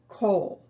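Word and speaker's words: כל: it's always pronounced o it looks like it should be ah but it isn't it's always o and the word is kohl kohl means all or every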